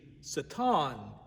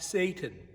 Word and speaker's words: Satan: You may have noticed that I used the pronunciation Satan and not Satan.